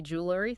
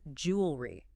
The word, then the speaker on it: jewelry: let's look at jewelry do you say jewelry three syllables yeah honestly that's how I've always said it what's wrong with that nothing wrong at all it's a really common pronunciation but to be more precise it's jewelry two syllables nice and streamlined just